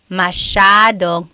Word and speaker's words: masyado: Masyadong means a lot. So the S-Y-A is a sha sound. Masyadong. Yep.